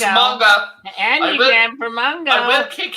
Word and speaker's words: manga: Manga, anime, manga?